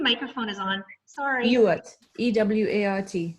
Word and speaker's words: Ewart: E-W-A-R-T. It's pronounced Ewart.